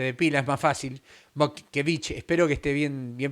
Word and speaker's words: Mockevich: Motkevich, espero que esté bien pronunciado. Mokevich es de origen lituano, suena, lo lee, parece difícil, pero es Mokevich, sencillo, Mokevich, Lituano, ok, fácil.